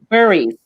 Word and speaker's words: Burrows: Martha Burrows. Is that pronounced that? Martha Burries. Burries. Thank you.